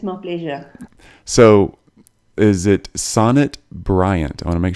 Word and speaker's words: Sonnet: very much it's my pleasure so is it Sonet Bryant I want to make sure I say your name right NE T NE T Sonet so Sonet do you you pronounce it yes Sonet Sonet Sonet Briant okay